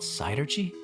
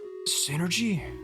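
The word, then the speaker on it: Psynergy: It's called sidergy? I had no idea. It's pronounced synergy.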